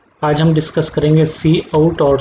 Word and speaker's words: cout: जो सिंटेक्स हम इसके लिए यूज़ कर रहे हैं, सबसे पहले तो इसका प्रोनाउंसिएशन होगा सी आउट, इसको प्रोनाउंस्ड करेंगे सी आउट से।